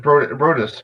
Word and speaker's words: Broadus: It's BROADUS. Yeah, Kevin BROADUS will be on, and he's actually here with us right now.